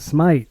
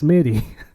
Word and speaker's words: Smitty: It's not Smite. It's Smitty. Or something like that.